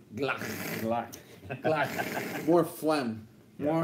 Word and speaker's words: Glock: You guys are pronouncing it incorrectly. It is Glock.